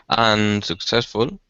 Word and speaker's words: unsuccessful: In the second word, the stress is in the first syllable.